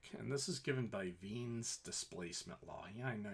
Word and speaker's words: Wien: this is given by ven's displacement law yeah I know you think it you'd be wine but the it's German and the way you would pronounce as V where this is a v sound and and the the